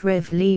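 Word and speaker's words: reveille: in the right place our morning March R Valley as nobody pronounces this word a Fran size as everybody calls it revly why not drop it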